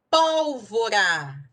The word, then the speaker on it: pólvora: terminada em ditongo crescente pólvora pólvora três sílabas a sílaba tônica é a terceira de trás paraa frente proparoxítona e todas são acentuadas